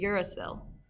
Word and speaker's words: uracil: I added the phonetics there so you know how to pronounce it, uracil.